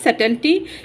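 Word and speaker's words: subtlety: जैसे वेल्स पर्दा है, कैनोट्स a sense of mystery, सरसनी एंड सिकरसी एंड सटेल्सी, इसका बी साइलेंट होगा। सटल्टी यानी कि लतीफ़ियत, implies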